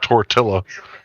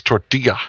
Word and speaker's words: tortilla: spell it what the in Spanish the two L's they make the Y sound so it's not tortilla it's torga right right oh my